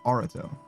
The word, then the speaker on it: Arato: I was saying Areto, but I think he says Arato.